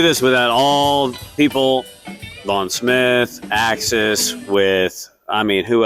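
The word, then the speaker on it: Smythe: the last name is the second part of that is spelled S M Y T H E. I guess like Smith, but it's Von Smith.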